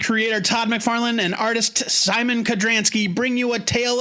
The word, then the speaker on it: Szymon: I'm sure it's pronounced Simon. It's Simon.